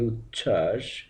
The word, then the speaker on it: উচ্ছ্বাস: উচ্চারণ করতে হবে অর্থাৎ ব ফলাটি যদি তৃতীয় বর্ণ হিসেবে যুক্ত থাকে সেক্ষেত্রে ব এর উচ্চারণ হবে না যেমন উচ্ছ্বাস উচ্চারণ হবে বদ দিয়ে উচ্ছ্বাস উজ্জ্বল সান্ত্বনা প্রতিটি ক্ষেত্রে